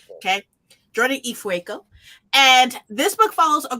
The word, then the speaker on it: Ifueko: her respect okay say you're right okay jordan ifueko and this book follows a girl named tarasai